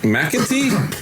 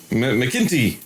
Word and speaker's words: McEntee: McEntee. Is that how you say it? Something like that. McEntee. No. Hey, McEntee. That's only like what they would say. You brought Irish. I'm a Mac, not a Mick.